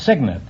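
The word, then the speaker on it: cygnet: No, it's Signant. It's spelled C Y G NE T, but it's pronounced signant.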